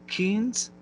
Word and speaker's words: Keynes: you see, We had Skander Keynes, I believe is how you pronounce his last name, played Edmund.